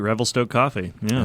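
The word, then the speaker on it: Revelstoke: really really love and the other is from Revel Stoke did I say that right you got it right Revel Stoke coffee yeah all right all right I know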